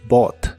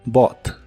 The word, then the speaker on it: bought: quiero comprar un coche en el pasado es Bot las letras u g h de esta palabra realmente no se pronuncian Así que se dice Bot Bot y la puedes usar